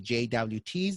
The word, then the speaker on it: JWT: json web tokens uh oh there is like jwt's they're pronounced like joe tokens uh whatever way you want to you